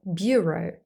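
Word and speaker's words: bureaux: a silent X is the word Bureau the plural of buau yes both words have the same pronunciation this word means office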